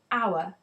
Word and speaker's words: hour: I waited an hour hour is pronounced hour with the Oh sound which is a vowel so an is the